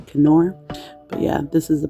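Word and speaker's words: Knorr: oh oh it is um nor pasta or apparently it's um German pronunciation so it's supposed to be canor but yeah this is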